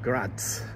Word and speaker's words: Graz: So I'm here again on a very hot summer day at the Technical University of Graz. I think, is that how you pronounce it?